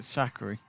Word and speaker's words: Sakkari: So that's how you pronounce her name, is it? Sakkari.